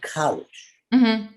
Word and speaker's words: Kalisch: same on facebook instagram my name so you pronounce it college now my understanding is you are related somehow